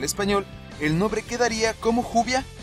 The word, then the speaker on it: Juvia: la y del español el nombre quedaría como juvia pronunciándose el grupo de oración 6 realmente no es